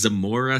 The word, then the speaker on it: Zamora: So your hometown is Zamora, Spain. It is. You pronounced it beautifully.